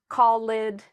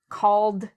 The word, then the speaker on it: called: So, and notice I'm not saying talkid callid. That's what a lot of people who are learning English say, but the correct pronunciation is talked called.